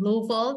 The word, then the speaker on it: Louisville: context so next slide please so hello from Louisville that's the correct way to say it by